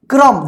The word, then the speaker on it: क्रम: देखिए फर्क, कर्क देखिए क के बाद आधा र का उच्चारण हुआ है, और यहाँ पे देखिए क्रम, देखिए क में ही र का उच्चारण हुआ है आधा र का, क्र।